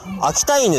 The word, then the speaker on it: 秋田犬: よ本当はね秋田県って読まないでこれ犬って読むん秋田犬っていうだから秋田犬は